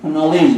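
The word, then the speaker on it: knowledge: ইংরেজিতে KNOLEDG নলেজ বলে, কিন্তু আপনি তো কে উচ্চারণ করেন না, নো তো বলেন না, নো বলেন।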